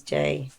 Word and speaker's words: Jai: I used to have JAI and then in brackets pronounced J because so many people Yeah.